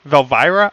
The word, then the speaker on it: Valira: contact UM with v it's not V it's Vel virra valira I just know I